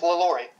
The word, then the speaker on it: LaLaurie: It's LaLaurie. Okay, I pronounced it correctly then.